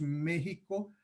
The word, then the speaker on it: México: en desuso localmente, pero la X por mucho tiempo eh, eh, esencialmente se pronunciaba como J en ciertos contextos. Por eso es que nosotros decimos México a pesar de que se escribe MXICO, o por ejemplo mi